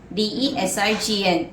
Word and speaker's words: design: Design, D-E-S-I-G-N, where the G is silent.